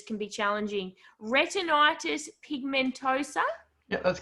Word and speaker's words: retinitis pigmentosa: say this right this I'm a Tasmanian so pronouncing anything with more than three letters can be challenging retinitis pigmentosa that's correct look at me I've been practicing